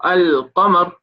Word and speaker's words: القمر: When alif lam comes on a word, sometimes when we read it, we will pronounce the alif lam. For example, al-qamar.